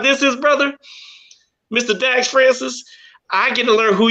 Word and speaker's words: Francis: So Dax Francis, am I pronouncing that correctly? Dax Francis.